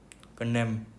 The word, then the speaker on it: condemn: Next question है यार, कॉन्डेम, कंडेम, कंडेम, कंडेम बोलते हैं इसको। बाकी यार सुन भी लेते हैं, क्या पता हम प्रोनाउंसिएशन गलत कर रहे हो। Condemn.